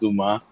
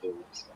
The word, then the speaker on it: Dumas: I think it's pronounced Dumas and Dumas. not Dumas. I Okay. figured without the S. I think the S is silent because it's like Alexander Dumas, the writer of the